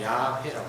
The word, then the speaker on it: 야훼: 공동성경, 가톨릭 성경 보면은 여호와라는 말을 쓰지 않고 야훼라고 썼어요. 그것은 자기들 나름으로 그렇게 모음을 붙인 거예요. 그것이 아마 원어에 가깝다고 합니다. 그래서 오늘날 우리 개신교에서도 구약 성경을 공부하는 구약 성경 교수들은 야훼라고 발음하더라고요. 야훼. 그것이 원어에 가깝대요. 그런데 정확한 원어는 뭔지 발음을 안 했으니까 아무도 몰라. 그러나 야훼가 이제 가깝다. 그러나 우리는 관습적으로 영어식으로 여호와 하나님 이렇게 한다.